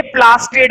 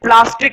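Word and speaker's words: plastid: ये प्लास्टिड है, प्लास्टिक मत कर देना कभी, प्लास्टिक कर दो, प्लास्टिड D है ये।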